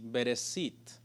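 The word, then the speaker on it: בראשית: sh y la tras la pronuncia en sí bereshit eso es lo que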